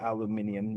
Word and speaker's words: aluminium: And I worked with people from, I, yeah, I worked with some Netherlands, from people from the Netherlands, and they would pronounce it aluminium as well.